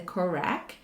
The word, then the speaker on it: COREQ: Many journals do recommend looking at the CORAC. And if you don't know what the CORAC means, it's spelled COREQ, and it stands for Consolidated Criteria for Publishing Qualitative Research.